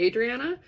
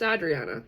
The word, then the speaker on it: Adriana: And I don't let people mispronounce it anymore. People say Adriana and I just look at them and I'm like, it's Adriana.